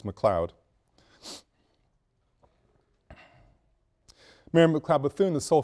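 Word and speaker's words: McLeod: bathon and the spelling is correct and the pronunciation is correct it's McLoud mayor McLoud bethon the sole female in the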